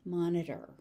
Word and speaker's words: monitor: That T is very light, monitor.